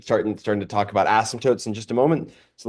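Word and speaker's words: asymptote: heard of intercepts but ASM tootes not the p is silent like in pterodactyl it's not an ASM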